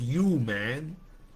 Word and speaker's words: UMAN: And so it's pronounced UMAN, which includes women.